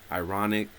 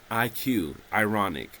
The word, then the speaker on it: Irawniq: That was me and my musical partner, Ironic. She's still out there doing her thing. That is spelled IRAWNIQ. Ironic, I think.